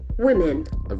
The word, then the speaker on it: women: Women, the plural of woman is women. The E sound is very prominent.